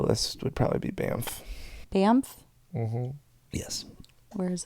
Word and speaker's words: Banff: It's an N, not an M. So Banff, Banff.